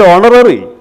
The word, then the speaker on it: honorary: Here you look, the pronunciation, and honest, and honorary, and honor, honorarium. ഈ വാക്കുകളിലൊക്കെ H silent ആണ്. അല്ലാതെ എച്ച് എവിടെ കണ്ടാലും നമ്മൾ ആ എച്ചിന് മുമ്പിൽ എ എഴുതി ശീലിച്ചാൽ ഇവിടെ തെറ്റാണ്. ഇവിടെ എച്ച് എന്ന് പറയുന്നത് പ്രൊനൗൺസിയേഷൻ, അതിന് സൗണ്ട് ഇല്ല, no sound. H ഹാസ് no sound here.